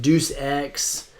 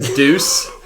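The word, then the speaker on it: Deus Ex: of their games like dece X and other action games but can we take a quick time out do you really think that it's pronounced Deuce can we address that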